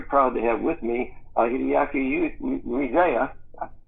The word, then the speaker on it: Hideaki Ueda: today I'm very proud to have with me Hideaki Ueda. Say that for me, Hideaki. Make sure I pronounced it right. Hideaki Ueda. Hideaki Ueda.